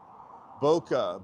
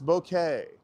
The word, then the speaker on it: bokeh: I've never heard it pronounced that before. Boca, Buca. It's Bokeh. It's b o k b o h k e h. Bokeh. Let's Let's see if we can change it. It's not Boca.